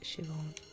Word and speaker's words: Siobhan: Siobhan. It's pronounced Siobhan.